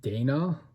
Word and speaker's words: Dani: Her name is, I believe it's pronounced Dana, but it's spelled like Dani, and it's short for like Danielle.